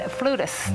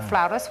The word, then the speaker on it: flautist: He is a renowned Native American flutist, or flautist, whichever way you prefer to pronounce that word.